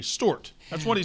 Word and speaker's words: Stuart: He says it like Stoort. Stuart.